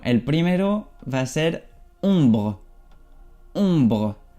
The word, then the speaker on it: ombre: Bueno, el primero va a ser ombre. Ombre. Aquí OM se pronuncia on.